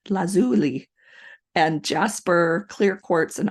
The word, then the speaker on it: lazuli: Carnelian turquoise amethyst agot lapis lazel La I had to look this up how to say it lazuli lazuli and Jasper clear quartz